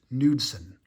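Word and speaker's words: Knudson: Tom Goodwin uh I I know the K is silent so er nudson Kevin apier and Rob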